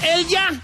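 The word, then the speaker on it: Elya: Me llamo Elja, tengo 39 años y primeramente mi nombre se escribe E-L-Y-A.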